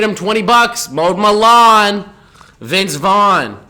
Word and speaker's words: Vince Vaughn: 20 bucks mowed Milan Vince Vaughn his name rhymes with Sean but he ain't Sean